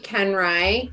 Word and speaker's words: Koenreich: my name is kenrai ken like the doll where i like the bread that's our my mother-in-law's